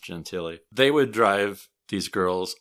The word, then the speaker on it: Gentile: with them guy named Nick Gentile or Nick genti not sure exactly how he pronounced it it's spelled Gentile but I think it might be pronounced gentiy they would drive these